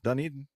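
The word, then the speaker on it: Dunedin: in the wild at dunan airport is that the way you pronounce that DED airport in New Zealand are you hungry no Duneden already wait a minute that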